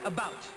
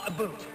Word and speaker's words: about: French not American and I pronounce it about not a boot I can proudly sow